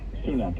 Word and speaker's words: Sunak: Sunak, yes.